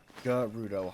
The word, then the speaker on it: Gerudo: Gerudo, hard G. Is it Gerudo or Gerudo? Oh, you said G. So Gerudo.